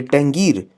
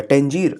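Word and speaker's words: Tangier: ये टेंगीर या टेंजीर आप उसको प्रोनाउंस कर सकते हैं, यहाँ पैदा होते हैं।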